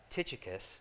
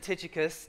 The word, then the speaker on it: Tychicus: my son this uh titicus that's actually how you say it i know and